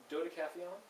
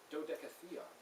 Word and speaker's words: Dodecatheon: Dodecathlon? Right? What if you pronounce it the right way? Dodecatheon.